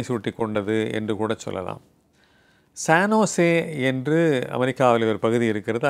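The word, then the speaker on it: San Jose: என்று ஒரு நிறுவனம் இருக்கிறது பலபேர் அந்த சானோசேவை சான் ஜோஸ் என்று படிப்பார்கள் எஸ் ஏ என் ஜே ஓ எஸ் இதான் உண்மையான அதனுடைய ஸ்பெல்லிங் என்று சொல்லுகிற அந்த உச்சரிப்பு ஆனால் அதை சான்ஜோஸ் என்று படித்தால் அவர்கள் அமெரிக்காவை முழுமையாக சரியாக தெரிந்து கொள்ளாதவர்கள் என்று கூட சொல்லிவிடலாம் ஆனால் அதை சரியாக சானோசே என்று சொல்லுகிறவர்கள் தான் அமெரிக்காவை அல்லது அந்த கலிபோர்னியா மாநிலத்தில் இருக்கிற அந்த பெயரை மிகச் சரியாக உச்சரிக்கிறவர்கள் என்று நாம் பாராட்டலாம் அதன்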